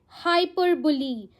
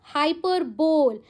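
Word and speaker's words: hyperbole: Don't say इट एज हाइपरबोल। यह figure of speech है। जब आप पढ़ोगे ना एलिटरेशन, मेटाफर सिमिली तो आपको यह वर्ड मिलेगा हाइपरबोल। बट आपने इसको आज तक क्या सोचा है? हाइपरबोल। बी ओ एल ई। No wrong pronunciation. It's pronounced as हाइपरबुली हाइपरबुली okay हाइपरबुली इज़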